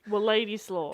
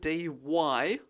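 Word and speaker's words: Władysław: Her father, this is going to be very difficult to pronounce, but it's Wladyslaw Skladowski. Wladyslaw. It is Wladyslaw.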